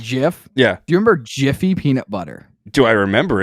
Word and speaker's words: GIF: case right was like hey it's actually Jiff and I was like no it's not and then they showed me like the proof like the guy who created it was like it's it's a gif guys like how mad would